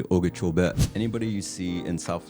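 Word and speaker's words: Okeechobee: Everybody says Lake Okachchobee. For us, proper pronunciation would be Okachobee.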